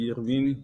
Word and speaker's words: Irving: passe ta préparation et est-ce que je dis bien ton prénom oui oui c'est exactement ça je m'appelle Irvin le prononcez bien et